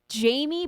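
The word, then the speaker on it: Jammie: the uh this person, it goes by Jamie Booker, but it's spelled like Jammy, by the way. J A M M I E.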